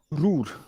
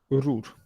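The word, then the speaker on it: Ruhr: point करय first point it इस called रूर आर यू एच आर रूर एच is silent it is called रूर of India India because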